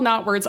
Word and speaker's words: Knotwords: And uh so I'm saying it's called Knotwords. I should specify it is a homonym. It is spelled k n o t w o r d s. But if you look for Knotwords without the k, you'd probably still find it either way.